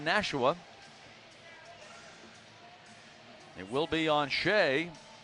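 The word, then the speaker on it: Skjei: It will be on Shea. Shea, a very unique spelling of that name. S-K-J-E-I, but it's pronounced Shea.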